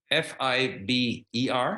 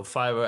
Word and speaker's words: Fiverr: Fiber? No, Fiverr as the 5.